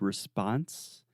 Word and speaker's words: response: note in the word response in American English the second sound is the ah response response precisely so